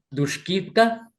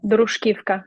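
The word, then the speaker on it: Druzhkivka: Has estado Sí, anteriormente, perdón mi pronunciación, Dushkivka, ¿será? Druskivka, sí, Tushkivka, Kharkiv, muy bien.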